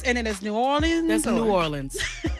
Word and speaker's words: New Orleans: Yeah, as long as you don't say Nolans. Nolans. Don't do that. That's like a touristy thing. We'd be like, please don't do that. So there's New Orleans and then there's New Orleans?